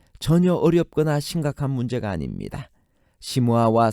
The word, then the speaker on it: 시므아: 시므아와 삼마는 발음 차이에 불과합니다. 히브리어는 시므아와 같이 마지막 철자가 아로 끝나는 아인의 경우 그것을 발음하지 않습니다. 그것을 문법적으로 목에서 나는 소리이기 때문에 후음 문자라고 합니다. 대신에 그것을 보충하기 위해 앞에 자음을 중복합니다. 즉 시므아에서 아가 탈락되는 대신에 미음을 중복시켜 삼마가 되는 것입니다. 그러므로 히브리어 발음 원칙에 의하면 시므아가 정확한 철자이고 삼마는 소리 나는 대로 철자를 적었을 가능성이 높습니다.